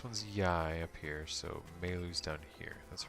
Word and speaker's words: Maylu: This one's Yai up here, so Maylu's down here. That's right. So it's written in this game, Mayl. Proper pronunciation, or really, in Japanese it's Maylu.